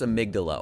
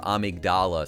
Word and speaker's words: amygdala: progress and then there's amygdala or amigdala sometimes they say it like that in bloodborne but dude I